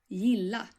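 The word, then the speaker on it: ja: in a Swedish way actually the first sound of the word Y is a very light sound and it's the same sound as in the English word yes can you hear that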